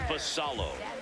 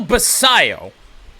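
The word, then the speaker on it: Basallo: It's Samuel Basio, you know, as double L's are usually pronounced.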